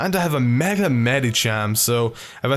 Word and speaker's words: Medicham: with my Mega Medicham, or my Mega Medicam, as I would usually pronounce it, but it's Medicham, I guess, officially.